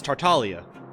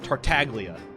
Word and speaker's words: Tartaglia: there's Talia child right it's Talia that's how you pronounce it it's an Italian name it's Italian word but even he says tartaglia and that's just wrong but it's if that's